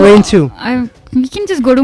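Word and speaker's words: Rhein II: It's called Rain 2. RHEIN. That's how you pronounce Rain it?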